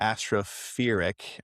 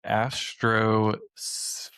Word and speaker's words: Astrospheric: I think I'm pronouncing that wrong. Is there an s in there? I'm not quite sure. There is astrophic because it is a bookmark of mine. It is astrospheric.